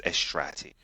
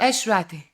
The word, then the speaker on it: Eshrati: one of those um um difficult suram to pronounce right if you want to get it right is esrati estra yeah almost there esrati yes almost there oh my God so many